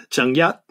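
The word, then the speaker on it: 鄭一: And Zheng Yi is Zheng Yat, Zheng Yat.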